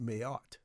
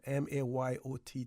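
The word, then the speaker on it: Mayotte: citizenship Ral in Gulf Indian Ocean island of mayot that's spelled m a y o t t mayot French okay says a spec of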